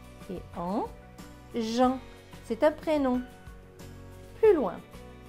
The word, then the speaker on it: Jean: Alors là, c'est une exception. E-A-N se prononce en. Donc, J et en. Jean, c'est un prénom.